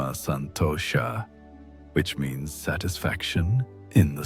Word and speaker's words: santosha: She began to find what the sages call atma santosha pronounced santosha which means satisfaction in the self.